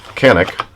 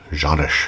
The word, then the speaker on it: Canik: So it's a quick look at the Canik, or Janish, however you wish to pronounce it.